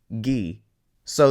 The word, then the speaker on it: guiso: Just like we had ki, this is gui. So this word is guiso and seguir.